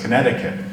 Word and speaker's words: Connecticut: Here, the Quanitakuk, or the Long River, now pronounced Connecticut. It's an Abenaki word.